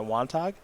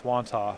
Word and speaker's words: Wantagh: Is that Wantagh? I think that's Wantagh. Wantagh? Oh, Wantagh. The G silent? Probably.